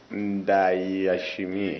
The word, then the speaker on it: Ndayishimiye: Indishimai, something like that. Okay. I'm not really sure of the right pronunciation. Ndayishimiye.